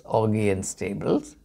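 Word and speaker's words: Augean Stables: stable but I prefer to call it a pronounce it as Augie and Stables The Story Goes that King Augie is had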